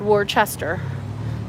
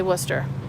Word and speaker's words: Worcester: a Worcester County, but it's spelled Worcester, but we say Worcester.